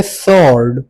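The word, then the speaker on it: sword: और जो आखिरी वर्ड है हमारे पास वो है सॉर्ड। सॉड में हमारे पास डब्ल्यू साइलेंट है।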